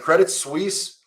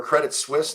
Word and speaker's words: Credit Suisse: but it Rhymes and Credit Suisse or credit Swiss depending on how you want to pronounce it well it seems like